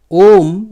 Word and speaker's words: Om: Om, the last one, is the consonant. It is very easy to pronounce that M, Om.